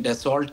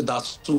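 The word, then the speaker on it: Dassault: तरह आपने कहा उसको वैसे तो अंग्रेजी में डेसोल्ट कहते हैं जो स्पेलिंग्स है उसके लेकिन असल में फ्रेंच में उसे दासू कहते हैं तो उनके वक्त को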